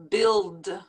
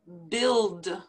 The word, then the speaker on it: build: likelihood likelihood launch launch build build it's like that you is not even there build now these two words